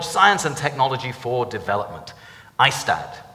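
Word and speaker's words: IAASTD: ISTAD is how you pronounce that.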